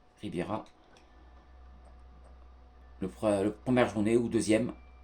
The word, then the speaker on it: Riviera: On verra si on jouera à l'Alliance Rivera, si j'ai bien prononcé. Riviera.